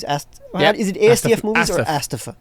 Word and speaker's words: ASTF: Is it ASTF movies or Astafa? It's Astaf movies. That's how he pronounces it, apparently.